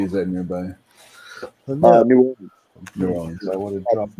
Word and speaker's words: New Orleans: New Orleans. I would have dropped Nolans. Contrary to what Saturday Night Live says, we do not say it like Nolans. Nolans.